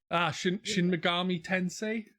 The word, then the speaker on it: Shin Megami Tensei: Shin Megami Tensei, I think it's That's it.